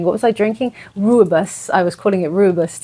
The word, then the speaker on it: Rooibos: Rooibos. I was calling it Rooibos tea. My South African friends, thank you so much. It was Rooibos?